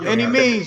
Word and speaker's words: Annimeanz: life guys he's y any means give them your um social media um it's everywhere for like Instagram Twitter it's uh a NN i m e a n z and it's pronounced any means um I got a